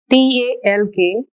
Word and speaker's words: talk: the red mark letters t a l k we won't pronounce l it is only talk here in this next